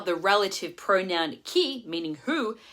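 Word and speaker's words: chi: how the relative pronoun key meaning who has a sneaky H after the C making it a hard C sound coming in at number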